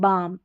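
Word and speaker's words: balm: जैसे कालम नहीं बोलते, काम, पालम नहीं, पाम, बालम नहीं, बाम, ऐसे L को नहीं पढ़ते हैं।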